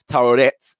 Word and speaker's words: tarot: Professor Finch believes that tarot, or I've also heard that pronounced taroret, yeah, which is imaged as